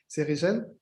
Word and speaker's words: Rigel: Donc moi, c'est Rigel, c'est juste pour corriger. Ça se prononce en français.